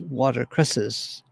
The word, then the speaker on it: watercress: for a hay penny watercress or it was usually pronounced watercresses a mission that was